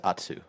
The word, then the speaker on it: Atsu: Atsu.